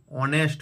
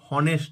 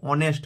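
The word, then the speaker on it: honest: যেমন অ্যান অনেস্ট ম্যান, এখানে হনেস্ট নয়, অনেস্ট ম্যান।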